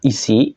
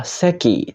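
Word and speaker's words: 石: dengan cepat ya minasang untuk kunyominya adalah isi yang artinya batu sedangkan ongyominya adalah seki Cara pakainya gimana Langsung aja kita ke contoh contoh yang pertama Nah kalau berdiri sendiri tentu saja dibaca isi yang artinya batu contoh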